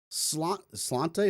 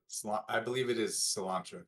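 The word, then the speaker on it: sláinte: Slante, is that how you say it? Slancha. Slancha. Thank you.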